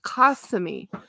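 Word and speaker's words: Kissimmee: SS i m m e e but it's pronounced Camy I feel like some weird this is this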